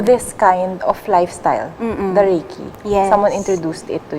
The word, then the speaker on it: Reiki: yes am i am i saying it right reiki correct okay so back to the story that